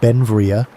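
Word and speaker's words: Beinn Bhreagh: Pronounced Ben Vria, Bell became an American citizen in 1882, but his name meaning beautiful mountain in Scottish Gaelic, showed his Scottish heritage.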